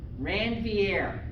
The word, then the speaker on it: Ranvier: as the nodes of wrong va okay you want the english print pronunciation ranvier okay so the notes